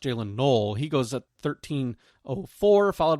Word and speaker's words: Jaylen Noel: and Jaylen Noel or Jaylen Null, excuse me, goes uh spelled Noel, but I think it's pronounced Jaylen Null.